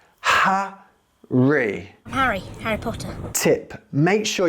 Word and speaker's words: Harry: In some British accents like Cockney English or Estuary English, the H is dropped completely. So instead of being Harry, it becomes Arry. Harry, Arry. But in most British accents, the H is heard loud and clear. It becomes Ha-ree.